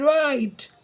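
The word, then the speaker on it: write: सो हम इसको राइट बोलेंगे, हमारे माउथ से जो साउंड आ रही है वो R से शुरू हो रही है बट हम लिखते हैं W से हैं, सो it means W इज a silent letter and K इन नो।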